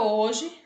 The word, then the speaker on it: hoje: fonema uol oi e a palavra hoje também tem quatro letras mas tem menos fonemas né vai o h como não tem som não representa não vai ser representado por nenhum fonema então a gente vai